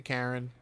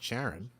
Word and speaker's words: Charon: oval for charon okay i'd rather say karen fine i remember what's your preference your preference is not sharon no maybe charon not sharon well it's spelled all